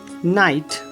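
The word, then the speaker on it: knight: जब किसी शब्द के शुरुआत में के और एन लगे हों, के एन, तो ऐसे वर्ड में के का उच्चारण नहीं होता। For example no, knowledge, knife, नाइट।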